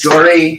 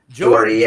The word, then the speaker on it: Jory: Jory. Jordy. Jory. Jordy. All right, Jory. I didn't know. Corey with a J.